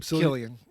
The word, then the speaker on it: Cillian: Killian. Is it It's Killian, yeah. With a C? Yeah. Well, someone needs to tell his parents they spelled his name wrong. They probably spelled it the Gallic word, the Gallic version.